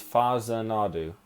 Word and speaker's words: Fazinadu: to look on google the pronunciation for the title it's faza nadu according to it in wikipedia so